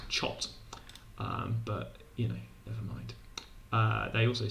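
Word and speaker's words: coth: And this one, which pretty pleasingly people do pronounce koth, but maybe people should pronounce chot.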